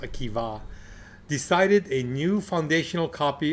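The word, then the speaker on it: Akiba: because of both around 8100 around 8100 Rabbi AKA okay it's spelled a k i ba a but pronounced AKA decided a new foundational copy of the Jewish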